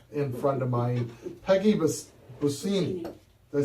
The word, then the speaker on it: Busceni: I am here with a very special guest and friend of mine, Peggy Busceni. Did I say it right? Busceni, Busceni. Okay, I got it right. Woo! My goal today was to pronounce your last name correctly before the end of the show.